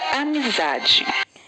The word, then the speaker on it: amizade: Amizade. Zá. Amizade é o zá.